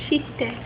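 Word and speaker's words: して: So suru changes to shite in te form. Shite.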